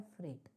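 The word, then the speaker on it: freight: इसकी स्पेलिंग और इसके प्रोनाउंसिएशन में बहुत फर्क है। स्पेलिंग तो आप इसको कैसे पढ़ोगे? एफ आर इ आई जी एच टी ये फ्रेट कैसे बन सकता है? पर इसको बोला जाता है फ्रेट।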